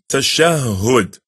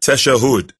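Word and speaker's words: tashahhud: As for the 10th pillar of salah, is the recitation of the final tashahud. Remember, it's not tashahud. It's pronounced tashahud. Can you say that? Very good. Tashahud.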